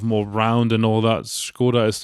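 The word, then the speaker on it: Škoda: Skoda is the actual pronunciation from what I understand. I called it Skoda normally, but yeah, Skoda is correct.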